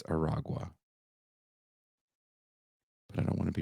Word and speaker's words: Aragua: I kept saying Tren de Agua. I think I spelled it wrong, but it's not. It's Aragua. Aragua. I said it wrong, and I apologize.